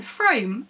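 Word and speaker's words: Frome: may pronounce it ethan frame and that's perfectly fine i pronounce it the way i do because i live near a place called froome so naturally that's why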